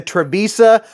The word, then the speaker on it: Trivisa: out here oh Mamacita this is the trebisa yes I know I pronounced that right because I looked it up and checked out the phonetics Hooked on Phonics anywho